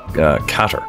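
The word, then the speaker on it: Qatar: it Dubai no it's qarqar I thear bleeding well Whatchamacallit I definitely know the flag for cater cater is how you pronounce that but that was a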